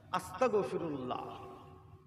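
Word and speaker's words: أستغفر الله: ত আকার ক আস্তাগফি খবরদার ক বলবেন না এই ক উচ্চারণ করা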